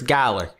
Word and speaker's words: Galar: And I'm pretty sure it's Galar.